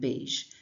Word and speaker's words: beige: Han's English, we're exploring that smooth je sound, the sound in mirage, garage, and beige. It's a sound many learners get wrong, but by the end of this short lesson, you will pronounce it perfectly and confidently. The je sound is made with your tongue close to the top of your mouth. It's like a soft version of the z sound.